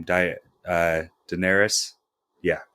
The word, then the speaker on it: Daenerys: how do you say her name diet uh daenerys yeah daenerys the queen of dragons amelia clark plays her